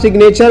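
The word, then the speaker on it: signature: साइन में silent है, बट जैसे ही आप सिग्नेचर बोलते हैं तो फिर से जी जो है वो लाउड हो जाता है।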